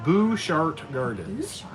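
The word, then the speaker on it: Butchart Gardens: Robin Jan, pronounced Bouchart Gardens. So that would be like if I was in the cemetery and a ghost came up and said, "Boo," I would shart right away.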